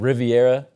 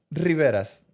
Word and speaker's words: Rivera: You said Riviera. Rivera's. Say it again. Spell it. Rivera.